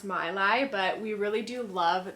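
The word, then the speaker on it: Maileg: right we call it may leg I think it is actually pronounced my lie but we really do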